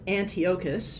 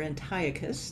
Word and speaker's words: Antiochus: His name was Antiochus, or Antiochus, depending on your pronunciation.